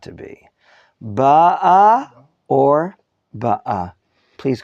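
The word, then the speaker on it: בָּאָה: Ba'a or ba'a? Please correct me and tell me what is the proper pronunciation. Ba'a. For the reason that the cantillation sign is under the aleph. That means he ba'a, present tense.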